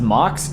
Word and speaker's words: MOC: Is it pronounced Mox?